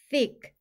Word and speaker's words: thick: 또는 안내 문이라는 뜻이에요 th n 이중 자음으로 영어 발음 기요 번대기 소리가나요 여기서는 스라고 써 줄게요 아는 E는 크 소리가나요 씨와 크는 같이 소리 나서 식 식의 스 소리는 영어 발음기호 번데기 소리인 쓰 소리를 내 주세요 한 번에 읽으면 sick